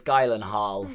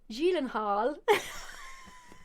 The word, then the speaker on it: Gyllenhaal: gyllenhaal because that's actually don't tell me it's gailan hall no because it's actually swedish apparently there's only one person who isn't swedish that's pronounced it right and that was conan o'brien when he was on the conan lebron show that i watched it's actually julen hall you are actually joking